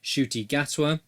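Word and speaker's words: Ncuti Gatwa: right at the top firstly we mispronounced the name of the actor that's been cast as the 14th doctor the actor is called shooty gatwa we also referred to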